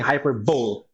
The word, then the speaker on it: hyperbole: the next one we have is hyperbole I pronounces so we're just gonna be saying hyperbole okay this is an exaggeration use for effect